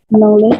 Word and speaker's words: knowledge: K-nya tidak usah dibaca.